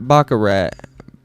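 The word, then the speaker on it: baccarat: back bakarat or Bach bakara bakara okay so the t's silent bakura Bak wonder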